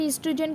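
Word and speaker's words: oestrogen: यहाँ पर ईस्ट्रोजन की स्पेलिंग करेक्ट कर लीजिए। ईस्ट्रोजन में ओ साइलेंट होता है बट हम उसे स्पेलिंग में लिखते ज़रूर हैं।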